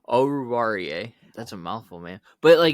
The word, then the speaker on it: Oruwariye: Is it Owuzie? Is that how you say his name? Oruwariye. Okay, I'll get it right next time. Oruwariye.